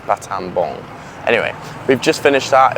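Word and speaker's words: Battambang: It's No, it's pronounced Batab Bong, not Batabbang. I keep saying Batab Bang, but it's Batam Bong.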